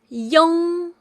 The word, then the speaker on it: iong: IONG is pronounced as yong, yong. It sounds just like the combination of E and ong, but make sure your ending mouth shape is longer and rounder.